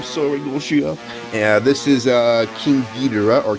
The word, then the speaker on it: King Ghidorah: Yeah, this is King Ghidorah or King Ghidorah, depending how you want to call him. It has been confirmed by Toho. It is pronounced King Ghidorah, but King Ghidorah sounds cool too.